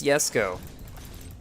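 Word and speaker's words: Jesko: fuel in my terzo i believe it's yes go because that's how everybody pronounced or told me to pronounce it when i was pronouncing it at jesco at first yeah so i'm going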